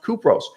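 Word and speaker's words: Κύπρος: south of turkey called cyprus in greek pronounced kupros have you thought about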